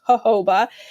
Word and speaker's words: jojoba: looks like jojoba to most people but it's pronounced jojoba and it's very similar to human human sebum